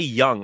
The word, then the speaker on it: Jung: Like, also, his name's Lonnie Young. I've been calling him Lonnie Jung this whole time. It's spelled with a J, but yeah. Young. Yeah. Well, I mean, Young, like Carl Young, the psychologist, but I never thought